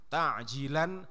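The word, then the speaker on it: تعجيلا: Jadi pakai ain, ta'jilan fardhol lillahi ta'ala. Jangan pakai hamzah. Kalau pakai hamzah nanti artinya malah justru menunda. Jadi kalau membacanya keliru malah artinya menunda.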